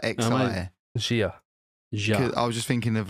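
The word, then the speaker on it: Xia: Zha. I was just thinking of like the word in Scrabble. Thinking like a bullshit word in Scrabble, X-I. Like. Pronunciation, Zha. Shia. Shia, apparently.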